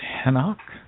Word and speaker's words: Henoch: So we mispronounce all the names of the Hebrew prophets, like Elijah. He was actually known as Eliah, and Enoch was known as Henoch.